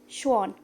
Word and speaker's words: Schwann: scientists sleddin and Shawn pay attention to the pronunciation it is sleddin and chuan sleddin was a scientist